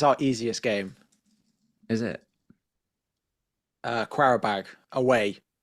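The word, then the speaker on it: Qarabağ: Quarabag away. Carrier bag. The old carrier bag. We've all been there. Us, Arsenal, you now. I don't think I've ever heard anyone pronounce it with a qua.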